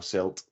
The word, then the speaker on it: CILT: don't have is it is it pronounced Sega yeah I don't actually know we do we do cilt as well silt yeah yeah and I'm